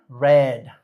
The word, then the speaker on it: read: Read es otro de esos raros, pero no entra dentro de esta categoría porque en realidad no cambia la forma en la cual se escribe, pero sí cambia la forma en la que se pronuncia, ¿ok? Read, red. Eso suena como el color rojo, red.